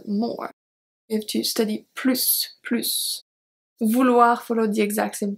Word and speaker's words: plus: Tu devrais étudier plus. Tu devrais étudier plus. You should study more. So here, plus, do you remember why we pronounce the S at the end?